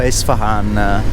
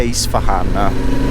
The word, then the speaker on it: Isfahan: Allora, la città è Isfahan con la I. La questione è che per fargliela pronunciare Isfahan così hanno iniziato, soprattutto per gli inglesi, ha scritto con la I, così si legge Isfahan.